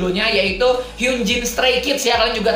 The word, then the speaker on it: Hyunjin: Tapi kalau di Hangulnya atau dibaca Koreanya itu Hyunjin ya, Hyunjin. Oke, Hyunjin, bukan Hyunjin. Itu romanisasinya bener Hyunjin, tapi cara bacanya itu Hyunjin. Jadi Hyunjin ini penyebutannya ya Hyunjin namanya ya.